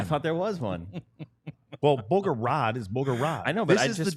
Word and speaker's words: Bogorad: Well, Bogorad is Bogorad. I know, but This I is just the found Dallas out that it's Stars Bogorad. DLLS Otherwise, it'd be podcast. Boogerad. But they're talking about Bogorad.